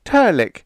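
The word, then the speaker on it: Trlk: It's Turk, pronounced Turk, and spelled T R L K.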